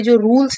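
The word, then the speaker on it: Czar: करेंगी, क्योंकि वो एक जार बन गई हैं। तो यहाँ पे सी साइलेंट होता है, जार का मतलब होता है राजा।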